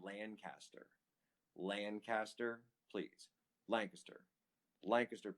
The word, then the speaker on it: Lancaster: lancaster lancaster please lancaster lancaster pennsylvania like a kiss you say it like a kiss you say it like like it's a kiss it's got a kiss in it lancaster lancaster pennsylvania get